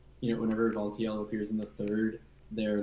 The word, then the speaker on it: Valtiel: I really like the, I don't know how to pronounce the name, but it's like Suchilbara? No, like. Oh, Valtiel? Valtiel, thank you.